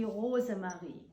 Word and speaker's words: Rosemarie: Rosemary, if you pronounce this in German, it would be Rosemarie.